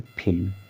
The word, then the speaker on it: film: देखिए इसमें भी एक अपवाद है, जैसे कि एक वर्ड है फिल्म, FILM, फिल्म, फिल्म में यम से पहले यल आया हुआ है और यहाँ पर यल का उच्चारण हो रहा है।